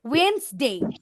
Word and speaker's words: Wednesday: Saturday yes I is silent then Wednesday Wednesday বলো কিন্তু তোমরা D letter silent আমি আগে Wednesday Wednesday. অনেকেই বলতো but the proper pronunciation should be Wednesday Wednesday.